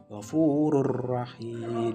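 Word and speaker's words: غَفُورٌ رَحِيمٌ: Di sini ada kalimat ghafurur rahim. Di sini ada domahtain bertemu dengan ro. Cara bacanya yaitu Ghafurur Rahim. Jadi kayak dilangsungkan gitu. Ghafurur Rahim, langsung dileburkan ke dalam huruf ro-nya.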